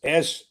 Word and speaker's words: Sumrall: But it's Sumrall. Summerall. Okay, and it's John Jon, not John. Okay, so it's John Summerall, not Summerall. Sumrall.